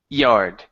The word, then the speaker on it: yard: Okay, instead of saying yard, it's yard. Yard. Yes, there you go. There you go. Okay, so what you're hearing, or the difference in what you're saying, you're pronouncing a Spanish Y, saying like yo. Okay, Okay. yo me llamo. That's the Y sound in certain places in Spanish.